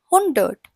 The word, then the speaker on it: hundert: Now let us finally know 100, that is pronounced as hundred, and this is how we write it, hundred, HUNDERT.